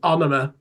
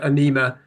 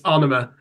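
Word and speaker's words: Ænema: Apparently, the pronunciation is AEnema. I used to call it AEnema. Apparently, it's AEnema.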